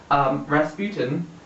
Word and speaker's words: Rasputin: And you have to say his name like that because that's how it gets pronounced. Rasputin he's very involved in the military and he likes the royal families.